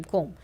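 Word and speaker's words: comb: बोला जाता है अह इन the word given below the letter B is silent जैसे कि वो बॉम टोम बॉम क्लाइम कोम।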